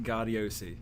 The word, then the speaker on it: Gaudiosi: John Gaudiosi. Gaudiosi.